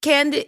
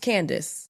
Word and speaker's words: Candiace: a c e d but it's still pronounced cand it's pronounced Candace so my whole life it's been is this cand diet candid it's just Candace you know what's crazy